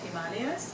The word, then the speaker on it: Himalaya: have I grew up in the foothills of Himalayas yes it's it's pronounced Himalaya so I'm going to keep it